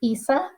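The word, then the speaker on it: Esa: His first name is Isa. Isa. Isa, which is the Arabic version of Jesus.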